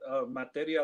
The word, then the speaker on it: Materia: It's Materia. That's like material, but without the L at the end.